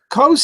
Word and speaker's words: Coase: It's pronounced Coase.